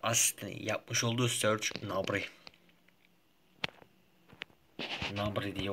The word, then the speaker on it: Gnabry: Gnabry diye okunuyor.